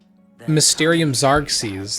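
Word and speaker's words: Mysterium Xarxes: Mysterium Zarks. That's how you say it.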